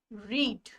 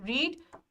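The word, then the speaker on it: read: पढ़ना को इंग्लिश में क्या बोलते हैं, रीड, ठीक है। इसकी सेकंड फॉर्म भी रीड, लेकिन इसका प्रोनाउंसिएशन होगा रीड, रेड, रेड।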